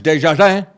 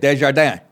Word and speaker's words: Desjardins: PBS reporter Lisa Desjardins, or if you're French, Desjardins. That's how they say it, Desjardins.